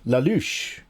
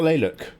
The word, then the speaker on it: Lelouch: It's pronounced Lalouche. Lalouche. Not Leyluk. Like Leyluk.